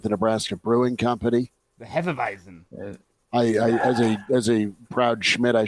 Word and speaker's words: Hefeweizen: The Hefeweizen. As a proud Schmidt, I should be able to pronounce that. Thank you, Elijah, for covering me there. It's simple. If it's German, the W makes a V sound.